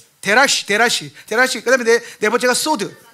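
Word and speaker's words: סוד: 그다음에네 번째가 소드. 예. 사드가 아니 소드예요. 소드. 그거 영어식 발음이야. 예. 히브리식 발음은 소드. 예. 그니까 소드를 그 미국식 라피들이 사드 이렇게 말하거든요. 예. 근데 소드예요.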